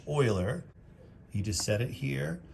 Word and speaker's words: Euler: It looks like Euler, but it's pronounced Euler.